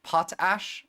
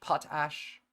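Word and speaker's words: potash: that we ourselves started it's pronounced like two words potes pot ash well whatever patach pot ash I like patach better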